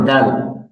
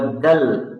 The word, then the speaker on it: دال: এরপর হলো দাল। দাল এরকম না, অনেকে উচ্চারণ পাঠায় আমার কাছে, বলে দাল। দাল না, দেল।